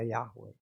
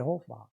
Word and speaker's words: Yahweh: Dan memang beberapa kelompok orang-orang Yahudi mereka mengakui sebenarnya yang benar itu ya Yahwe. Tetapi kalau Yahwe dengan tambahan ee apa namanya? Huruf-huruf hidup memang bacanya jadi Yehova.